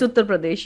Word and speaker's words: Uttar Pradesh: in business standard about the elections in uh uttar pradesh i'm saying that correctly i hope um yeah it's uttar pradesh yes okay not the most stated okay well